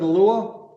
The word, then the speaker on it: Alua: Is it Alua? Yes, it is.